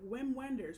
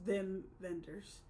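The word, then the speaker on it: Wim Wenders: directed by Vim venders it's spelled like if you were to read it as like an American it's like whim Wenders but he's German so it's them vendors um and this is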